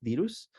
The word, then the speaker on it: dirus: Les había dicho que tuve un entrenamiento en Tailandia y, por ejemplo, ahí está Anopheles minimus, así se escribe, pero se pronuncia minimas, y el dirus, que es dirus.